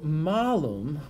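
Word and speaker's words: mālum: now here's the thing so Malin with a long a means Apple malam with a short a means bad thing that is it's a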